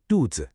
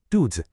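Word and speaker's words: 兔子: The pronunciation is dudz. Did you hear that? That second part, the z is super light and quick. Dudes.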